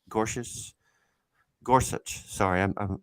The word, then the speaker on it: Gorsuch: recent on the the trump nominations uh justice gorgeous gorgeous gorsuch sorry i mispronounced his name but was 11-9 in the